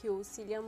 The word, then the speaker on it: Cillian: How do you pronounce his name? I say Cillian. If he was a Tolkien character, it would be different.